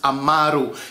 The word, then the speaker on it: Amaru: or misspell my name my name is pronounced amaru you have to put the emphasis on the second a all right all right